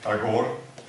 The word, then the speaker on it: Tagore: His name is written Tagore. Many of us pronounce it Tagore, which is quite good, but originally it has to be pronounced Thakur in Bengali. So Thakur was the original name. From this, Tagore is nearby the best English version, and Tagore is not really nice, but one can use it also.